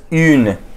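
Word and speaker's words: une: B pronounce as a this will be pronounce as यन okay यन यन ये कुछ आपको ऐसा साउंड करेगा हिंदी में यन ओके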